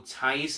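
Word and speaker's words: Theis: Daniel Tice, as they pronounce it, he played for 43 minutes.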